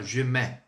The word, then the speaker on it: je mets: Há pessoas que utilizam, que colocam a pronúncia assim, ó, je mets.